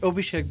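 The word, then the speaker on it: Abhishek: I mean, it's last time we did Abhisheck because that's how my parents would pronounce it. But, depending on the region of India you come from, there's a different pronunciation for the same name.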